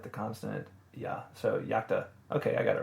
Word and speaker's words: iacta: that's i think that's supposed to be iacta yakta uh i can't tell because an eye if